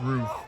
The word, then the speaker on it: Ruiz: I pronounced the last name wrong, it's pronounced Roof, but that was a great play there by Roof.